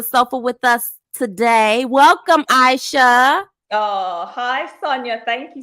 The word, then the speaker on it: Ishea: pronouncing your name right is it AIA AA it's Aisha Aisha I didn't even get it right either time Aisha Aisha Muhammed on life coach sitting on the sofa with us today welcome Aisha oh hi Sonia thank